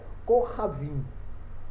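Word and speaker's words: כוכבים: Kohavim. Por quê? Aqui está um kaf, ele não está sendo precedido, não tem nenhum sinal vocálico aqui antes dele. Então ele tem um som de K.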